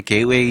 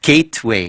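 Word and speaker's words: gateway: 이제 저희 학생들 같은 경우에 이제 게이웨이 이런 프로그램을 통해서 네. 여름 초부터 이렇게 시작하는 학생들이 많거든요. 아, 프로그램 이름이 뭐예요? 이제 게이웨이 프로그램이라고 있어요. 발음이 잠깐만요. 네, 게이트웨이.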